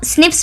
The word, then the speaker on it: SNPs: ठीक है, इसको हम स्निप्स भी प्रोनाउंस करते हैं।